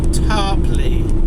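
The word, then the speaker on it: Tarporley: It was booked in yesterday, and it was taking a small package from Kings Lynn to Tarpley, I've been told is how you say it.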